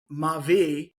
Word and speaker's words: Maavee: Maavee means my life in French. Ah, And okay. so not spelled this way we spell it, but said the way you would say it, Maavee.